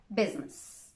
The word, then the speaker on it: business: the age is silence good news the i is not usually silent yeah that's right it's usually pronounced except in the word business yes business and now the letter